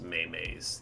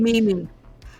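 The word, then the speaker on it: meme: this one of those Maymays the younger generations are referring to?" I believe so, yes. No. And he says, It's pronounced funny. Mimi. Ah, right, Mimi.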